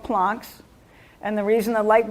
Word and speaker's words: Planck: using the word plots plonk p-l-a-n-k and it's it's from max planck the german guy that discovered them so it's it's pronounced plonk but it's spelled like planck planck is max planck